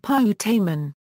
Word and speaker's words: putamen: It is pronounced putamen.